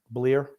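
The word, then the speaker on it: Bleier: How do you pronounce that, Grumpy? Bleer.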